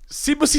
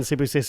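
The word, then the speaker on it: Sibusiso: You kept putting K's in his first name, and I said, AJ, there is no K's in Sibusisu.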